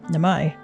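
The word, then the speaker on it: Namai: Nami going to pronounce it the way uh Ian's voice actor does. Nami.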